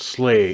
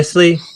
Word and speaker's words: SLA: I've seen it written SLA, but yeah, Slay. Fair. Yep. This is me not knowing anything about it. They dropped the Y for some reason.